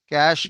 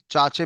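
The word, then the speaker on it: cache: एच ई कैश memory इसके कुछ कुछ बच्चे इसको चाचे मेमोरी के नाम से भी बुला देते हैं या कुछ उसको कैचे मेमोरी भी बोल देते हैं पर जो सही प्रोनाउंसिएशन है उसको हम कैश मेमोरी के नाम से जानते हैं।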